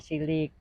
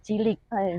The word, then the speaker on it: Tjilik: Jadi namanya Cilik. Jadi entah bagaimana, entah kena pergaulan di Pulau Jawa sana, namanya menjadi TJ. Ya, ejaannya jadi Cilik. Sebetulnya Cilik, sebetulnya Cilik.